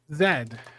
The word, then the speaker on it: zed: Yeah, that look I've watched enough Stargate Atlantis to know it's it's zed. That's the the correct Canadian pronunciation.